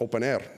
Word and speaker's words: openEHR: fhir is pronounced fire open EHR is pronounced open air usually open air and